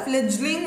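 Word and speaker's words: fledgling: ஃப்ளெஜ்லிங், ஃப்ளெட்னு சொல்லக்கூடாது, இதை ஃப்ளெஜ்லிங் அப்படின்னு ப்ரொனவுன்ஸ் பண்ணணும்.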